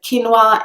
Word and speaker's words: quinoa: it definitely that word because it's pronounced not how its kind of written if you know what I mean so quinoa is the British English pronunciation I would also be